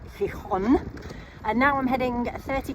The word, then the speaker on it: Gijón: had another lovely warm showers stay here in, I was pronouncing it Gijón, but it's Gijón.